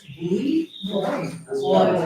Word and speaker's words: buoy: Boy.